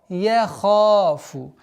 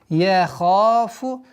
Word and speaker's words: يخاف: Яха, чтобы твердое произношение звука я не было. Яха, яхафу, яхафу. Удлинение в размере двух огласовок. Яхафу уқуба.